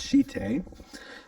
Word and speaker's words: shite: It's a Japanese word and it's pronounced shite.